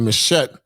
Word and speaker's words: machete: community I come from they pronounce it machette but it says pull out a machete and slash another motorist